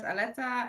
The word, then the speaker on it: Aletta: Hi, my name is Aletta, and this is my second podcast interview.